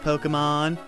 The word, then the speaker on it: Pokémon: secretly I was like oh I know it's pronounced Pokémon I'm ashamed you like to watch soap op